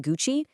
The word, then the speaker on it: Gucci: Just remember, silent H in Hermes, that tricky nasal on in Vuitton, the hard G in Gucci, and of course, that surprising U sound in Bulgari.